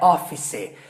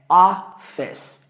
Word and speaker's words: office: É duas sílabas, tá? Não é office, é offes. Offes.